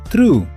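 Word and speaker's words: threw: Este verbo suena exactamente igual que la palabra true a través de Recuerda poner la lengua entre los dientes para ese sonido true.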